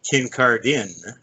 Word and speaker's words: Kincardine: Okay, it's Kincardine, actually. Scottish name. Not pronounced the way it's spelled, but then what is?